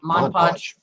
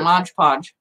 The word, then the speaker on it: Mod Podge: No, it was just that kind of reminds me of the discussion of Mod Podge. Yeah. Because everybody calls it Mod Podge. Right. Instead of Mod or Hodge.